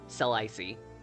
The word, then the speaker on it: Celesi: a lot of gimmicking yes that's the canon pronunciation cell i see hazel got an art